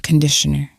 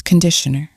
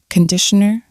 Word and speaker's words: conditioner: the pronunciation it's not conditioner it's conditioner the first vowel is ah conditioner conditioner and that is